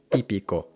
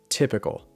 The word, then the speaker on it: típico: the reason why, because the Spanish te is pronounced with the tongue against the top teeth, típico, típico, not against the roof of the mouth, typical, typical, típico, typical.